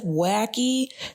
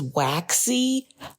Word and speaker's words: Waxy: So I had actually said Wacky. Her name is Waxy.